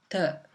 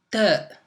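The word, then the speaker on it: ت: La prochaine lettre, c'est la lettre Ta. Donc je commencerai à écrire la lettre d'abord. Donc Ta, ça s'écrit comme ça.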